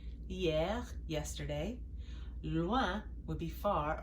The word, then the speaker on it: hier: Hier, that H is silent. hier, yesterday.